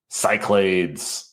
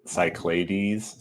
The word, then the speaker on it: Cyclades: Yeah, that's probably like the proper Greek pronunciation is cycl cyclades.